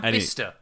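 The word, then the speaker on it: Bicester: So, these Alpine engineers, you got distracted by Bista Village. I did. Is that the town that's pronounced that's sorry spelled like Bayester?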